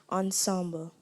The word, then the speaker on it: ensemble: also be used as an adverb am I pronouncing the word correctly ensemble yes Ensemble e n s e m b